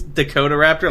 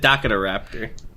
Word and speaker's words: Dakota Raptor: generator Dakota Raptor sorry it's Dakota Raptor like South Dakota Dakota Raptor that's what I said you said you said Daka Raptor uh it's a Japanese